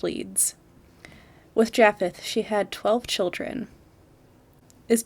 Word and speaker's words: Japheth: am going to butcher it is spelled for all of you that want to know j a p h e t h so i'm going to say jaffeth so she married a man named japheth leeds with jaffeth she